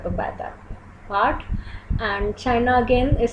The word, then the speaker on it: Kyi: It's spelled as K-Y-I, but it is pronounced as Chi.